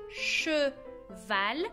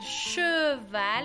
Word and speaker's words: cheval: De hecho, esas E's que se deben de pronunciar E, muchas veces nos las comemos. Por ejemplo, la palabra che. Val. No vamos a decir cheval, vamos a decir cheval.